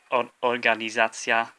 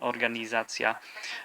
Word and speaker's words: organizacja: So organizacja, organisation, organizacja. The stress is on the second to last syllable, the za part, organizacja.